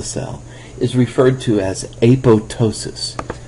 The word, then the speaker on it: apoptosis: is referred to as apotosis. So you say apo and then this p is silent and then tossis. Aptosis. So it's not apoptosis but apotosis.